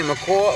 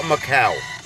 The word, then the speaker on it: Macau: J and that's from how do you say macaw Macau Macau I always say wrong goose oh it reminds me of the bird the macaw always if we go